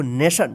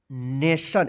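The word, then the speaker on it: nation: ना यहां पे देखिए जब भी किसी भी वर्ड में टी के बाद आई ओ एन रहता है तो इसका जो उच्चारण होता है इसका जो उच्चारण होगा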